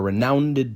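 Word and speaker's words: renownèd: Anytime you see that apostrophe over the top of an E, they're adding an extra syllable. Our renowned duke instead of renowned duke.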